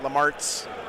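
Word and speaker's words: Lemartes: 2 captains with jump packs, Lamarts, the Rhymes with Farts.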